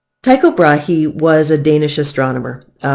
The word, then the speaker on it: Tycho Brahe: now Americans pronounce this Tycho Brahe he it is actually a Danish name and if you speak